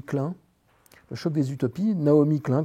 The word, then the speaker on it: Naomi Klein: Le choc des utopies, Naomi Klein, comme ça se prononce, Naomi et plus loin Klein, qui était une étudiante de Noam Chomsky, donc on va les appeler comme ça, les activistes américains.